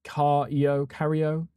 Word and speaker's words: Cairo: Cairo. Like Cairo. Like almost like Egypt, right? Cairo. But it's Cario.